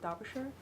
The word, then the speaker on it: Derbyshire: It's pronounced Derbyshire. Whatever.